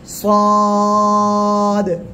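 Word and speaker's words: صاد: বলেন মাশাল্লাহ হয়েছে অনেকে ছাদ বলেন ছাদ বলা যাবে না সদ এভাবে উচ্চারণ হবে এরপরে এ অক্ষরটা উচ্চারণ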